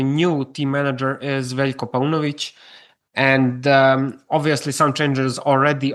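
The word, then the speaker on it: Paunović: So will this how do you pronounce his name? Is it Paunovic?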